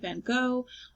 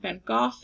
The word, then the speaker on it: van Gogh: Arles, artist is Vincent van Gogh, also known as Vincent van Gogh if you pronounce it with the correct Dutch pronunciation, and the date was 1888.